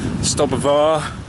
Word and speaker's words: Stob Ghabhar: The hill I'm going up today, I used to call it Stob Ghabhar, but I've heard other pronunciations, that Stob Ghabhar, something like that, Ghabhar.